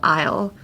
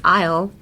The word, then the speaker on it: isle: I will instead of isle. But just in case you want to use isle. What would be the pronunciation? Isle and the a isle for like the combini convenience stores have the same pronunciation likeisle 5.